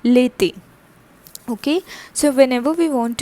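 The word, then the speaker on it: l'été: it is called late l apostroph that which we have done in the previous episode all right then e accented you d e accent eq that becomes lethi okay so whenever we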